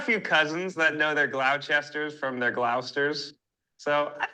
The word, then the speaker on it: Gloucester: I feel like there should be an H in here. And then I would know how to say it. Whoa, sister. Gloucester? Gloucester. Gloucester?